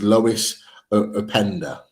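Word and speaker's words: Loïs Openda: a striker and um uh I want to pronounce his name right so um just bear with me it's Lois upender a panda yeah 18 goals this season um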